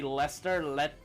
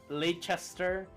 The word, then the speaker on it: Leicester: I hate how people say Leicester, Leicester. So here's the thing, JQ. People here can't really say a lot of the things in the UK. Like, for example, Leicester is Leicester over here.